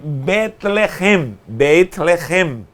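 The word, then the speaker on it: בית לחם: Para nós é Belém, só que em hebraico é Betlehem.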